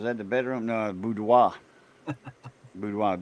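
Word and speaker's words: boudoir: Budwo.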